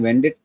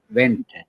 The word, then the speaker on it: Wendt: वेंडिट ठीक बोला मैंने क्या या बोलते हैं? वेंट ओके अच्छा डी को साइलेंट करना पड़ेगा। जर्मन कंपनी है ये।